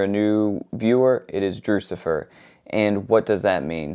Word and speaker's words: Drewxcifer: new viewer, it is Drewxcifer. And what does that mean? So Drewxcifer essentially is just a nickname that my wife gave me. Rhymes with Lucifer, just a funny, silly